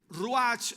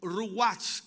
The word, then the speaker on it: ruach: La palabra hebrea ruach o ruach, como también deberíamos pronunciarla, es traducida viento y significa aliento sensible o también aliento violento.